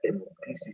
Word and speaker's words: hemoptisis: Hemoptisis, bueno, no sé si se pronuncia así. Ajá, hemoptisis, muy bien, se pronuncia hemoptisis, sí.